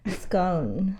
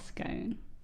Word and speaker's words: scone: Scone. Scone. So, it rhymes with bone.